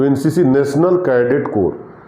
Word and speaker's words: corps: कोर का spelling होता है CORPS। हालांकि जब उसको हम पी को साइलेंट कर देते हैं या उसका प्रोनाउंसिएशन नहीं होता है।